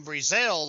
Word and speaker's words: Brezel: Camden Brezel on the tackle. I've been told the E is silent.